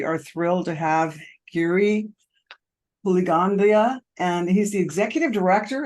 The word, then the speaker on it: Puligandla: We are thrilled to have Giri Bleandia and he's the executive director of the Canadian Mental Health Association. I hope I pronounced your last name right.